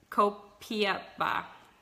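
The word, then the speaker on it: Copaiba: Copiapa is how you say it.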